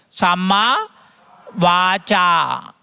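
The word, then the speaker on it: Sammā-vācā: Samma Vacha. Cha. You have to open your mouth. Samma Vacha. Samma Kammanta.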